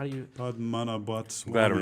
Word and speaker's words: Padmanabhaswamy: So the well, you were pronouncing it, Sherman. Here, how do you? Padmanabhaswamy.